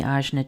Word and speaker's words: Ajna: The Azna is spelled Ajna and this is the green triangle pointing down on your chart if you have it colored in.